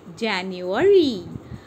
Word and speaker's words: January: January, J-A-N-U-A-R-Y, January. So, U is not stressed.